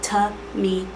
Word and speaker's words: Tamia: It's pronounced Tamia. There's an M in it, okay?